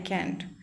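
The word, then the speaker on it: can't: कुछ लोग कैंट को कांट भी बोलते हैं, तो ये लोगों के ऊपर प्रेफर करता है उन्हें क्या बोलना है, पर correct pronunciation is कैंट, कैन से कैंट, okay.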